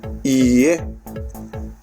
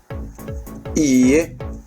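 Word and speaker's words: いいえ: From this side, hai, and from this side, iie, hai, iie, right? So pay attention to the pronunciation of these ie, not ie, because if you say ie, that's house.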